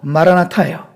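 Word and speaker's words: Μαραναθά: 이것은 실제 헬라어로도 마라나타예요. 실제 헬라어 발음으로도.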